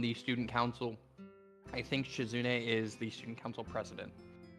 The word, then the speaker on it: Shizune: The right one is Shizume, right? Is that how you say it? Yeah, Shizune.